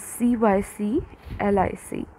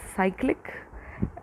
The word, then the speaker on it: cyclic: This word is written as CYCLIC. We usually pronounce it as cyclic, but it is also pronounced as cyclic.